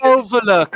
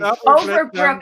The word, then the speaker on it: Overbrook: Son of Overlook, as I live and Double breathe. Overbrook.